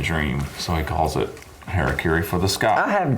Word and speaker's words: Harakiri: Say the Harakiri. Harakiri. I've looked up multiple ways to pronounce it. That's the way that is most common.